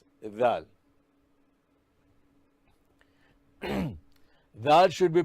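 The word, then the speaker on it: ظ: In Dha, the Dha sound should be hard, and also it should be pronounced as if the mouth is filled with something. Dha should be pronounced as the tip of the tongue should come out, come out of the mouth between the teeth.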